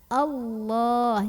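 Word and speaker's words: الله: syaa Allah lamjalalah atau lam pada lafadz Allah ini dibaca secara Taklim Kenapa karena huruf sebelumnya ini Hamzah barisnya di atas ya Fatah maka bacanya itu ditebalkan bagaimana cara menebalkan nya dengan cara mengangkat pangkal lidah kita allah' jadi bunyinya Allah bukanlah ya Hai walau syaa Allah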